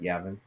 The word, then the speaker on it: Yavin: going to say this wrong the battle of yavin yavin you said it right yavin yavin what is the importance of that keith